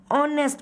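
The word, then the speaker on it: honest: Mohan is एन ऑनेस्ट बॉय। इसमें एच है लेकिन उसका साउंड नहीं आ रहा है। एच जो है साइलेंट है।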